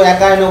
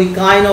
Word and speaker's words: Echino: একাইনোডারমাটা বা ইকাইনোডারমাটা বা কণ্ঠত্বক প্রাণী, ECHINO, সেই জন্য কেউ একাইনো বলে, কেউ ইকাইনো বলে, যা যেটা তোমাদের প্রোনাউন্সিয়েশনে মনে হবে সেটা বলবে।